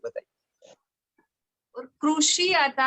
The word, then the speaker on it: कृषि: वहां लगाकर र बोलिए, वहां लगाकर रू बोलिए। रू ऐसा मत बोलिए, वो ओष्ठ से निकल जाएगा। लेकिन आप ओष्ठ पर मुर्दा पर जीभ लगाकर रू बोलिए तो वो उच्चारण होगा र जैसा, तो कृषि ऐसा होगा।